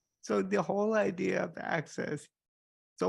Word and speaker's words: AXS: So access, I wanted so the whole idea of access. So when I say access, it's spelled AXS. So when we're talking about Access Lab and Access Map, it literally is spelled AXS.